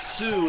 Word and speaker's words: Soo: Please welcome to the show Adam Jones-Kelly and Sue Jones-Kelly. Welcome. Come on over here. And just so everyone knows, Sue is spelled S-O-O, and that's S-U-E.